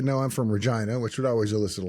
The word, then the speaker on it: Regina: then occasionally I would say no I'm from Regina which would always elicit a laugh and it's true and that is how you pronounce it um but if I said you